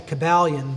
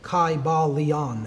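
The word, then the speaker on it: Kybalion: greek language in which there was no like short y sounds you know it would have been a long i sound chi ba leon and every syllable would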